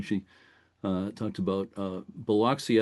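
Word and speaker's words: Biloxi: She, uh, talked about, uh, Beloxy. I think down there they kind of say Buxy.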